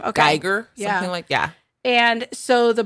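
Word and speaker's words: Guyger: that's been going on in Dallas yes with ember greiger is that how you say her name a Giger yeah yeah and so the brother of the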